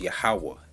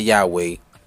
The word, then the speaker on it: Yahawah: replace the yhwh the tetragrammaton which is properly pronounced yahawah not yahweh not yahuwah not jehovah it's yahweh because there's only two syllables in